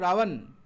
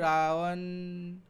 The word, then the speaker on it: রাবণ: আর রাবণ উচ্চারণ করো, রাবণ, স্লোলি উচ্চারণ, রাবণ, দেখো ঠোঁট দুটো না লাগলেও চলছে, ওটা অন্তস্থ ওয়া।